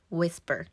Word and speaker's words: whisper: 틀리는게 바퀴는 will will이라고 해 주시고 속삭이다 표현은 Whisper Whisper per이라고 썼는데 per이라고 발음해 주시면 더 좋습니다 바 3초만에 좋아지는 발음팁